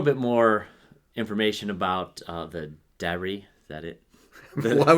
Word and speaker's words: Darry: I would say Darry. Darys. Darry, yeah. The Darys. But you see that goes to my pronunciation because, Princess Leia, her real name.